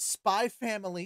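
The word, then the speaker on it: Spy × Family: internet it is pronounced spy family you don't have to say the X you sound like an idiot when you do it Hunter x Hunter yeah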